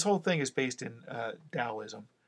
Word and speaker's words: Taoism: have so this whole thing is based in Taoism it's spelled with a tee but it's pronounced with addie Taoism it's a Chinese philosophy and it's the energy